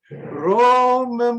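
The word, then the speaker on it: רוממו: Romemu. Okay, it's obviously the emphasis is mu.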